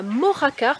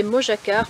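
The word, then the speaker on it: Mojácar: on y va donc nous voilà arrivés à mojacar parce que jusqu'à maintenant je vous disais mojacar mais le gie se prononcèrent ici j'avais complètement zappé donc c'est une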